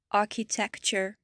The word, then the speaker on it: architecture: Le TURE, comme culture, architecture, literature. Ça se prononce ch, comme si vous aviez carrément un TCH à la fin.